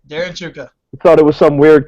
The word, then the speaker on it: Chewka: Darren how do you say your last name Chuka okay Mikey had it right all right Darren Chuka thought it was some weird Canadian pronunciation it's